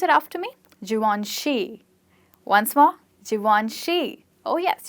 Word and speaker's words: Givenchy: So mostly it's pronounced as Givenchy, or something like that. But it's actually pronounced as Givenchy and not she.